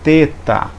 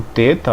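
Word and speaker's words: θήτα: temos agora o teta o teta ele equivale a um th th é no inglês você fosse letra fosse a palavra fim fing Então esse th aqui é Alguns vão pronunciar ele como um th em inglês como finge não como um t em português você pegar por exemplo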